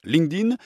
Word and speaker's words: LinkedIn: dans le monde entier pour la prononciation c'est donc linkedin et ça s'écrit link1n d irène link en anglais